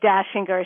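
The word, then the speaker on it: Dachinger: So, you understand my name is not spelled like the Christmas song. It's Austrian.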